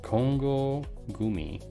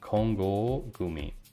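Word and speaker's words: Kongō Gumi: the world is called congo gumi and we pronounce this in japanese as a long o but what was was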